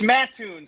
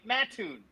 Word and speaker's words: Mattoon: It's Mattoon, Soucie. They're going to come after you if you don't get it right. Mattoon. That's how you say it.